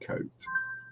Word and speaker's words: Kote: It's made by a company called Plastic Kote.